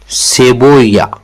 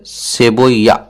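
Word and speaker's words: cebolla: उसके बाद Spanish Spanish में प्याज को कहा जाता है सेबोया सेबोया मतलब इसमें स्पेलिंग में ला है लेकिन ये ल साइलेंट रहता है तो इसमें सेबोइया सेबोइया इस तरह जर्मन जर्मन में प्याज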